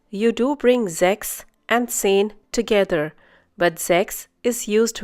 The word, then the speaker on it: zehn: zehn Once again, zehn. Hope you remember the pronunciation of Z in German. It's TS.